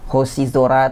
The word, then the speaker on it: hoshizora: Jadi untuk sora di kata-kata yang saya pilih ini dia bacanya zora ya. Jadi ada yozora, aozora, dan hoshizora.